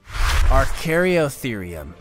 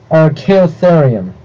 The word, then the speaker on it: Archaeotherium: or even a scavenger number three archaryotherium archaeotherium okay that's not as bad as that thought like a smileless pronunciation mistake but uh still our